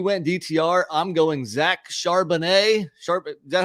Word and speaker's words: Charbonnet: I'm going Zach Charbonnet. Is that how you pronounce it?